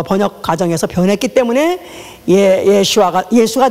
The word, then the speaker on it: 예슈아: 이건 히브리의 아니 아라모의 아 원래 원음 원음 그대로 그 발음 그대로 하는 것입니다. 우리는 그것이 어 번역 과정에서 변했기 때문에 예슈아가 예수가 된 예슈 예수였었는데